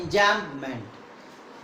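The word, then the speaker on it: enjambment: भी almost silent हो जाता है, एंजैम्पमेंट।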